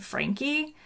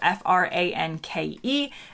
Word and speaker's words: Franke: name on youtube but my name is frankie and it's spelled well people think it's frank because it's f-r-a-n-k-e it's german it was francais but then um